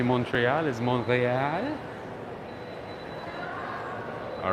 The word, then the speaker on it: Montreal: proper the proper way to say montreal is montreal all right no i don't speak french my